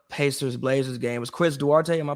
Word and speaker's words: Duarte: watched the uh pacers blazers game was chris duarte in my pronounce his name right yes duarte i like him as well like i mean